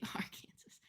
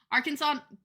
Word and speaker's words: Arkansas: state is that isn't AR Kansas next to AR Kansas Arkansas Cooper got so mad at yeah that is